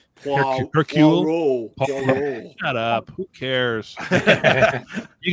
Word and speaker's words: Hercule: Sherlock Holmes or a Hercule Poirot type detective. That is not how you pronounce that name. Hercule.